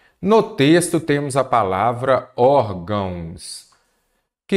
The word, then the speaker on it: órgãos: cobrados pela Fundatec então primeiro órgãos Vamos separar em sílaba não é isso órgãos aqui eu tenho o quê uma palavra paroxítona a sílaba tônica a penúltima lembre-se de que você começa sempre da direita paraa esquerda última sílaba tônica oxítona penúltima para oxítona antepenúltima proparoxítona órgãos ela é acentuada porque ela é uma paroxítona terminada em ans ah órgãos tem dois